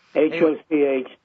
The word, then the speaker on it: Hochschild: Hochschild.